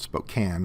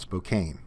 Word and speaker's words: Spokane: uu Church Spokane Washington pronounced at Spokane not Spokane Spokane anyway a public